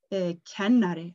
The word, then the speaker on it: kennari: The next word I'm going to teach you is kennari.